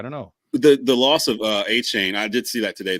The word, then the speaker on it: Achane: You're supposed to pronounce his name Achane.